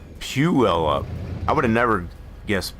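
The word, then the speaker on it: Puyallup: It looks like polyup. Is it not pronounced polyup?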